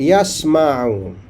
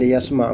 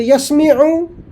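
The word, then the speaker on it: يسمع: kan dia F Madi Sami fil mudarnya mesti disebut yasmu dalam Quran yasma kalamallah kalau kita kata yasmiu dia tak ada makna orang tak faham brokenah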